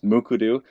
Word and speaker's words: Mukurtu: It's kind of a difficult word to pronounce, but it is pronounced. I gave that little cheat sheet there in the first bullet point as Mukurtu.